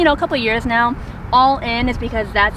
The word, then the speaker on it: Alyn: my second name and all in is not my last name it's actually my full first so my full first name is allen so if you're ever